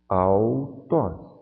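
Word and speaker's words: αὐτός: O Y tem som de U porque faz parte de um ditongo.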